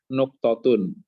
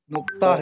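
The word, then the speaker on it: نقطة: Nun kof, nuktotun. Tun. Dan tamar buto ya. Nuktoh, dibacanya nuktoh, tidak nuktotun. Dihilangin.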